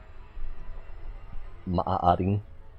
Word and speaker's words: maaaring: It's peculiar in Tagalog how if you have 3 A's in a row, you pronounce each one slightly separately. Maaaring.